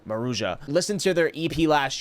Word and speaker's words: Maruja: For the longest I was calling them Marua, but you actually pronounced the J in there. It's called it's pronounced Maruja.